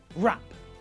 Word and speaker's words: wrap: w is silent and in the same way we don't pronounce the silent w in these words either rap right wrestle wrist now with the